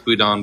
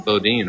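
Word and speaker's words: boudin: Yeah, it's Budhon Bakery. I thought I think in America they pronounce it Bodin, right?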